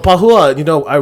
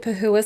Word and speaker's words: Pahoua: Yeah, my name is, I pronounce it Pahoua. I've pronounced it Pahoua since I was a little girl, but in Hmong it's actually Pahoua.